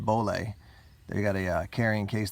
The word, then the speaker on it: Bollé: These are from, I think it's pronounced Bollé.